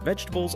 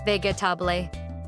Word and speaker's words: vegetable: Vegetables are healthy foods like carrots, tomatoes, potatoes. Many people say vegetable, four parts, but native speakers say vegetable. Yes, only three parts, vegetable. It's shorter than you think.